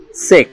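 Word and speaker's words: cheque: শব্দের শেষে কিউ ইউ ই এর উচ্চারণ ক, অর্থাৎ কোন শব্দের শেষে যদি কিউ ইউ ই থাকে তাহলে এর উচ্চারণ ক এর মতো হবে। যেমন সেক, সিএইসি কিউ ইউ ই, সেক, সেক মানে কিস্তি বা হুন্ডি।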